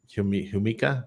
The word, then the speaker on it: jamaica: it yeah Florida Jamaica the Jamaica flower but pronounce it humika yeah uh I love